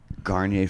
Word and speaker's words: Garnier: Garnier Fructis. Ooh, Yeah, and I fuck yeah.